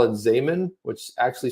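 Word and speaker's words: Xaman: It's now going to be called Zaman. Rhymes with ramen noodles.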